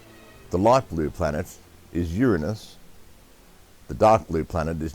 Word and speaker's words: Uranus: this sort of that right now it is pronounced Uranus not Uranus okay nine now now settle down stop the